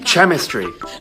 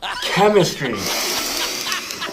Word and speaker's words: chemistry: that's why okay but when it's not French what sound does this make Dutch sound which means this word is it'd be chemistry chemistry you don't see how